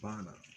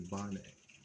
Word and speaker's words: Bane: so it's by name it's not bonna it's a bonnet sharon i said her